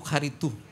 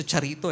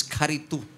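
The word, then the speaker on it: χαριτόω: Sabihin niyo nga po karitu. Nasanay tayo sa charito e no? Parang si Charito Solis pero the right pronunciation is karitu.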